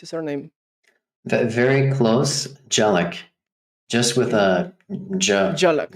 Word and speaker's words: Dzielak: Josh Dzielak, or how do you pronounce your surname? Very close. Dzielak.